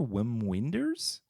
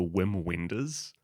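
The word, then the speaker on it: Wim Wenders: Japanese movie directed by German director Whim Wenders.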